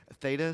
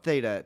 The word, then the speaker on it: theta: Theta state. So, spell it. Theta. T H E T A. Theta. like the Greek letter thing I guess.